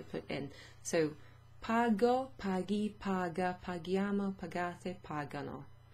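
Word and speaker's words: paghi: So in Italian, to make that hard G sound, you add an H after the G. So, pagi non si usa.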